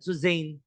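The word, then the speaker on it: Suzanne: o suzan suzan jacobi kung ayaw niyo ng suzan kas ang appropriate pronunciation dito ay suz si suz jacobi ay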